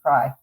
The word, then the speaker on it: Cry: start with mla uh cry i have to make sure i'm saying it right it is right yeah i like a french fry but um i appreciate